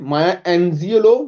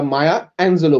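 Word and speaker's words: Maya Angelou: ওকে, অনেকে মায়া অ্যাঞ্জিওলো বলে উচ্চারণ করবে, যাই হোক যেমন হোক এটা প্রপার নাউন, আমরা মায়া অ্যাঞ্জেলো বলছি।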